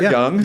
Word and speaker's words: Yang: Yeah, Tom was there, young. Yeah. It's spelled Yang, pronounced Young.